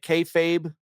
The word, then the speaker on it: kayfabe: is a lot of uh how do you pronounce the word? Uh is it kayfabe, Tyler? The wrestling term. Yeah. I do think there's a lot of kayfabe in Donald Trump's like the political grievance.